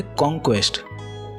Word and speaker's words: conquest: दूसरा वर्ड है कॉन्क्वेस्ट। यहाँ पे एन साइलेंट है तो कॉन्क्वेस्ट बोलेंगे।